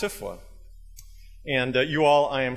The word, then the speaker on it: SFWA: the pronunciation, and that it's not SAFWA or SFAFWA, it's SFWA.